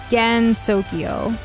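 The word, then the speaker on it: Gensokyo: So Gen Sokyo, not Gen.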